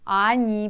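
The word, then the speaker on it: они: reading you see but only you can spell it just o oni ani pronounce it be careful here ani ani i need out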